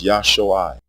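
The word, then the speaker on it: ישועה: It is Yashui with pure vowel sounds. The pronunciation Yeshua has two degraded vowels, a short E and a long U.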